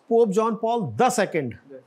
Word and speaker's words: Pope John Paul II: Actually, this is pronounced Pope John Paul the Second, not Pope John Paul II.